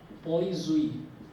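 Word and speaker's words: poiseuille: Spelling अजीब से है लेकिन इसको बोलेंगे क्या, इसको बोलेंगे पॉइजुई, पॉइजुई, ये इसका जो प्रोनाउंसिएशन है वो है पॉइजुई, ठीक है। लिखा ये जाएगा पॉइजुई जो भी है ना, ये लिखा जाएगा, लेकिन जो है वो पॉइजुई है, इसको पॉइजुई बोलते हैं।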